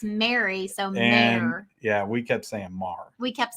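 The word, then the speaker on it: Mr. Mayor: No, it's Mar.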